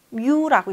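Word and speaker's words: μ: 뭐라고 읽는지 아세요 혹시? 뮤라고 있습니다.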